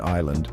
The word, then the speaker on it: island: Well, this time the silentist is like a souvenir from a trip to old English. That That's right, folks. Island actually comes from the old English word eagland, which meant, you guessed it, island. But here's the thing, the G in England was pronounced like a Y sound. So, it was basically island.